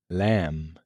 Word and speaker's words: lamb: Now, for one of the most puzzling silent letters, the B at the end of words like climb, thumb, lamb, numbum, bomb. The rule here, when a word ends with MB, the B is usually silent.